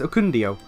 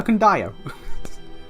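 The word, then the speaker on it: Ekundayo: Also, I like how he introduced himself and he pronounced his name as Okundio. And yeah, I'm sitting here like, oh yeah, Okundayo.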